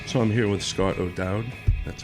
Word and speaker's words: O'Dowd: So I'm here with Scott O'Dowd. That's how you pronounce that, correct?